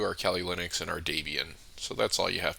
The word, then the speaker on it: Debian: Debian. How do you guys say it? Let me know. I think I say Debian because it rhymes with my name.